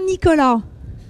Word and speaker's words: Nicolas: Est-ce qu'on prononce bien Nicolas?